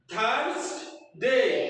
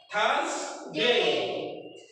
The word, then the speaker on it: Thursday: দুই দাঁতের পাটের মাঝখানে জিহ্বা আসবে। ওকে, টিএইচ এর টু টাইপসের উচ্চারণ আছে, দুই দাঁতের পাটের মাঝখানে এনে দুই ধরনের উচ্চারণ আছে। Thursday আর Friday।